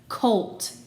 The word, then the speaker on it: colt: goodness what's gonna happen colt tap it first old colt cult there's a really good glued sound in there it's actually an exception a closed syllable exception oh man okay what